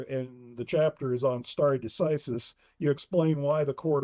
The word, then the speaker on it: stare decisis: And also explain for the readers what we mean by stare decisis. And you can pronounce it a little differently than I do. That's how I pronounce it, stare decisis.